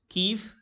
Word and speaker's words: Kyiv: तो KYIV, कीव से pronounce किया जाता है, ये इसकी कैपिटल है।